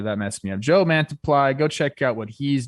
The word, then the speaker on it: Mantiply: uh he's in arizona jake yes yo the pronunciation key is is weird okay i was going to say mantiple that messed me up joe mantiply go check out what he's doing brent strom